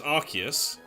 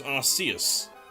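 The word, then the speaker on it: Arceus: So, there is a there is a British English and an American English pronunciation. So the British English pronunciation is Archus and apparently the American pronunciation is Arus.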